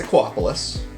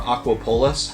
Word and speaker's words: Aquapolis: So, it's Aquapolis. Or Aquapolis.